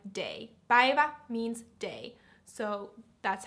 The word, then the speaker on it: päivä: Päivätär, so it's päivä, so like day. Päivä means day. So that's how you pronounce it.